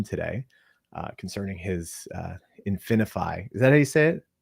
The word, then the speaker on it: InfiniFi: about with him today uh concerning his uh infiny is that how you say it yeah yeah that's how you say it infiny but we're gonna get into that a little